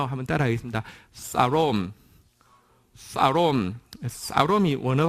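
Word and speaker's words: שלום: 이 단어를 원어로는 뭐라고 하냐고 하면, 영어에서는 영어 발음이 좀 원어하고는 다릅니다. 그래서 샬롬이라고 부르는데, 원어 발음은요, 한번 따라하겠습니다. 사롬이 원어 발음입니다.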